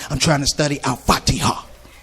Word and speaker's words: Al-Fatiha: I was like, I'm trying to study Al-Fatiha. That's how you say it, Al-Fatiha.